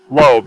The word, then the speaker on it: Loeb: Loeb, yeah.